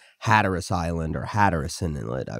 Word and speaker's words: Hatteras: corrected me on that which I appreciate its Hatteras Island or Hatteras Inlet I was pronouncing it head terrace but when these men took a break on